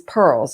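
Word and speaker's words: PURLs: the real estate world is pearls and that's spelled p-u-r-l-s and that what that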